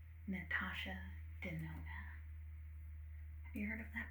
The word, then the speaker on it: Natasha Denona: Now, the next brand that we have on our list is Natasha Denona. And I can spell that if you'd like.